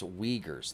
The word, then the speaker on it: Uyghurs: Rockstar says it's Uyghurs. Thank you. I did not know how to pronounce that.